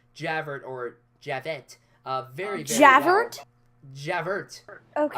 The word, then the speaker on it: Javert: Javert. Okay. I call him Javert. That's how he's spelled. It's spelled Javert. I understand, but it's French. Javert.